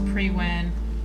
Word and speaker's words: Priwen: Priwen, I've been saying it correctly.